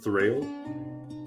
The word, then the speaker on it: Thrayle: So have you and do I pronounce it Thrayle?